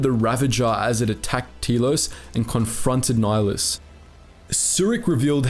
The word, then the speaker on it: Telos: Kreia knew of this, and so, through one of Nihilus’ servants, she led him to believe there was a Jedi Academy on Telos IV , knowing that Nihilus would be unable to resist such a target.